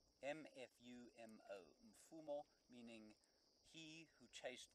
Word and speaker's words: Mfumo: And then the fourth one, Mfumo. Mfumo. M-F-U-M-O.